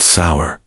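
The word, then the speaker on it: seiðr: Someissit relied on magic, specifically a mysterious practice called cider, pronounced sour, which was part sorcery, part spiritual therapy, and part my ex want, return my runes.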